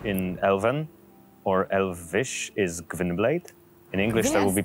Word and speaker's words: Gwynbleidd: Which in Elven or Elvish is Gwynblade. In English, that will be pronounced how? Gwynblade? Gwynblade. It's Welsh, I think.